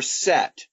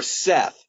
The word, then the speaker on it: Seth: Osiris was murdered by his brother Set, or Seth, S-E-T-H. Sometimes you don't pronounce the H, sometimes you do.